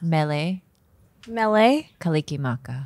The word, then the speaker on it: Mele Kalikimaka: Mele. Kalikimaka.